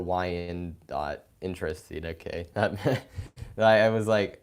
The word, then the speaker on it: Wyandotte: like really excited for we on dot is pronounced like Y and dot or Wyandotte interesting okay that me